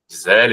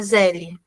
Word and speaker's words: Zelle: O Zelle, o último a gente não pronuncia, não é Zelle, é Zelle.